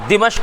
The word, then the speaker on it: دمشق: شام کی راجدھانی ہے، ہاں دمشق بھی کہتے ہیں دمشق بھی، دونوں طرح کا تلفظ ہے، دمشق تو وہاں کی